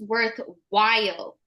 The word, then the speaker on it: worthwhile: It's pronounced worthwhile. Worthwhile. Yeah, it's not a D, it's an L, so worthwhile.